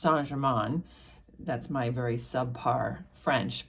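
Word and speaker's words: Saint-Germain: It says that Telson's is established in the St. Germaine quarter of Paris. This is actually pronounced Sanjgeran.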